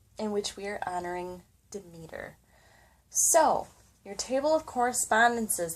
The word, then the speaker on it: Demeter: for the day so demeter which is pronounced how i said it is a greek goddess